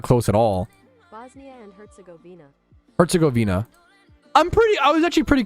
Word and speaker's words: Herzegovina: Govina, not like Gavinia. I was adding a Y for no reason.